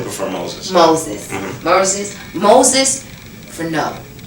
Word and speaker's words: Verneau: Yeah, it's Verneau. E-A-U. In French, it's pronounced like Oh, a O. like a O. Like O.